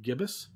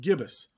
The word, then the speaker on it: gibbous: So there's just before the full moon, its phase is called waxing gibbous. Okay. I actually had to look that up and how to pronounce that.